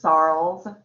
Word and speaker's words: Sorrells: sorrells and you can call me mrs sarls charles rhymes with charles sorrows like that and